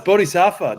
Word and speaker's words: Bodhisattva: How the fuck do you pronounce that name? Bodhisattva. Yeah. It's Bodhisattva.